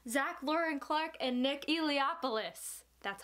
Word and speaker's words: Eliopoulos: Adventurers Guild by Zach Lauren Clark and Nick Eliopoulos.